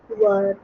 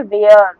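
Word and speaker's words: were: वी ई आर ओ क्या पढ़ते हैं? प्रोनाउंस वर। वर बच्चे क्या पढ़ देते हैं? वेयर। नो इट इज नॉट वेयर। इट इज वर।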